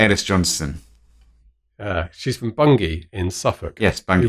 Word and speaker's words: Bungay: Actually, non-Americans, non-English people, it looks like Bungay, but it's actually pronounced Bungay.